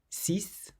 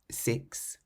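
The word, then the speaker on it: six: The number 6 is one of the only words that ends in an X and you pronounce the X as an S.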